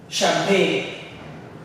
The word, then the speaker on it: champagne: Champagne. Champagne. Right? You would want to pronounce it as champagne, but it's sh.